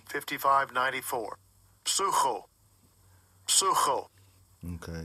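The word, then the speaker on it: ψύχω: Sucho. Sucho. Okay, it's pronounced suko, but it's psycho in English, as we call it.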